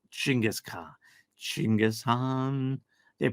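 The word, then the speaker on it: Khan: if I remember correctly the Han still has a K in it it's just not pronounced but the chingis is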